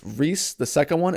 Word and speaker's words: Reece: It's spelled neither of those ways, devil. It's Reese, the second one, it's Reece.